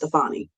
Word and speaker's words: Stefani: name will be thinking Stephanie with an F, but it'll be pronounced Stefani. So her name will actually be Stefani. And then I want people to continue to ask her, like Gwen Stefani.